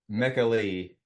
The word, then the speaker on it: Michele: Actually, it's Mecca Mekali Soavi Soavi, Mekali Soavi. But Michele Soavi, he also goes by Michael, which is easier to say in English.